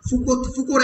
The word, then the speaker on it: Foucault: Foucault adjective হচ্ছে Foucauldian, Foucauldian. Foucault উচ্চারণ Foucault unpronounced, Foucauldian এ পুরোটা উচ্চারণ হয়েছে Foucault, Michel Foucault.